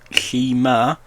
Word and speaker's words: Shimer: So Elisabeth Lee Avey Shimer, pronounced Shimer, November 4th, 1976 to October 2024.